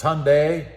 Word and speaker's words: Hyundai: A lot of you have been getting on me about how I pronounce Hyundai. It's Hyundai.